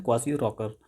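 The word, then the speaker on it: Kwashiorkor: यहाँ पे इंग्लिश पढ़िए, क्वासियो रॉकर, इसका सही प्रोनाउंसिएशन है क्वासियो रॉकर।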